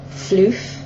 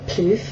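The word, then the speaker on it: Phloof: an eyeshadow called uh floof or ploof by mag don't really know how to pronounce it as pH L double o f um it's a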